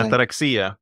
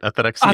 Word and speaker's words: ataraxia: Ataraxia. That's right. Ataraxia.